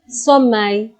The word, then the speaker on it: sommeil: L is silent in this. You can never say avoir sommeil. L will not be pronounced. You will say avoir sommeil, which means to be sleepy.